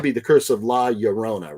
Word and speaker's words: Llorona: Double L in Spanish pronounced like Y in English, Llorona.